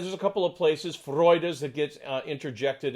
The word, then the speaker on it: Freude: top of the downbeat freud okay and usually with a good exclamation on the first syllable of the of the word and then the second one is unaccented and so